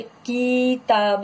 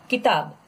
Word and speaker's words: किताब: Pronunciation कैसे करोगे, किताब नहीं, रॉन्ग, किताब. स्मॉल है, कम टाइम लेना है.